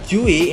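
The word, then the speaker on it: 주의: Oke, di sini kata juwi, ini bacanya juwi, artinya hal yang harus diperhatikan atau memperhatikan.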